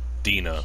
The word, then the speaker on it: Dina: Dina, that's how you pronounce it.